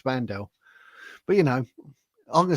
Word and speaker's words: Wandelt: I'd be quite worried if I was Julia Wandelt or Vandel. I keep saying it wrong. Danny did correct me. He said it's Vandel.